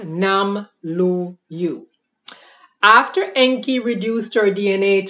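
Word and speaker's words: Namlu'u: We were already advanced beings called the Nam-Lu-Yu. N-A-M-L-U with an apostrophe and then a U, pronounced Nam-Lu-Yu.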